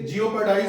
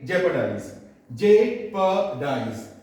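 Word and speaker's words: jeopardise: जा रही है ना इसलिए यदि आप इसे जिओ पढ़ बोलते हैं तो गलत बोलते हैं इसे सही बोलना है और सही प्रनंसीएशन क्या हो जाएगी jeopardice सही प्रनंसीएशन क्या हो जाएगी जैप दी पी डाइस आर को प्रोनाउंस नहीं करनी है के लाइक दिस जब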